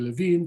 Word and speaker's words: Levin: it i don't know whether to pronounce it as levin or levine because i don't even know how to pronounce my own surname in this country we're 11 back in south africa we're levine but strictly speaking grammatically